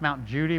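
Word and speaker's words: Mount Cudi: popular sites is the mount cootie it's actually pronounced mount judy but it looks like mount cootie it was also called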